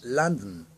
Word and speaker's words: London: como se lee London Pero cómo lo pronuncian Ellos dicen landon Land Land como adia